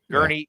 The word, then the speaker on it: Gurney: He's just like, was it Garney? How do you say it? Garney? Gurney.